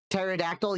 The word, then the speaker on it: pterodactyl: Pterodactyl, yeah, the P can be silent.